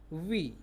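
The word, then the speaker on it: oui: अगर आपको फ्रेंच में बोलना हो यस मीन्स हाँ, तो आप क्या बोलेंगे, वी, वी मीन्स यस। फिर यदि आपको नो बोलना हो तो फ्रेंच में स्पेलिंग अलग है, NON है, बाकी प्रोनाउंस वही रहेगा, नो।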